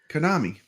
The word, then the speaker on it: Konami: Konami. Konami.